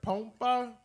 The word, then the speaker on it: Pompa: My name is Pompa, and in Spanish is pronounced Pompa, but I'm not Spanish, I'm Mexican-American.